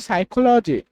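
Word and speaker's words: psychology: এরপর হচ্ছে এটার উচ্চারণ হচ্ছে সাইকোলজি।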